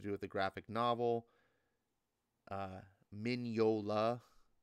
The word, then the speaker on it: Mignola: Mignola is how you pronounce Mignola.